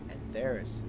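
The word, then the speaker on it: Etheirys: But I do know that you're from Atheris. Atheris is how you say it.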